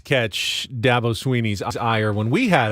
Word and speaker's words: Dabo: about R for you it's Dabo as in apple a Dabo I get all kind